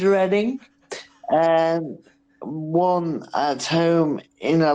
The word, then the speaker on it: Reading: Reading, or Reading, as the Americans say, but it is Reading, won at home in a London derby against Leyton Orient.